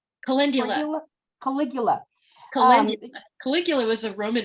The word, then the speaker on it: Calendula: What you were just talking about, how do you pronounce that? Caligula? Calendula.